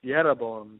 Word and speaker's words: Jeroboam: 25 there it says and jeroboam or better pronounced yabo built sheim in the